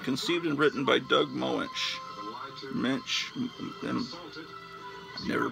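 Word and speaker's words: Moench: oh i'm completely wrong it's not mike plute it's john bushema's art conceived and written by doug moensch mitch then never pronounced the name of my wife m-o-e-n-c-h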